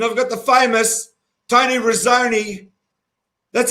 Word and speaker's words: Renzoni: from melbourne and i've got the famous tony rosoni that's how you pronounce the surname tony claus wren's like to knock the macaroni on it with an e okay here's tony rosoni and he's not macaroni i love that guy